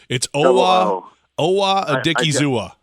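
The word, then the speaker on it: Owa Odighizuwa: I guess they've been calling him Double O, but it's Owa Adikizua.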